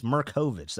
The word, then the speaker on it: Merkovich: I always add the extra syllable. There's not a Mera. It's Merkovich. I remember that.